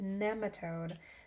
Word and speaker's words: nematode: been saying it wrong it's not nematode it's nematode so instead of having the e be a long e it's a short e nematode i was saying